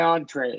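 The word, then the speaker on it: entrée: Most Americans say, hey, I'll have this for my entree, right? They use a short O plus N, right, is the vast majority.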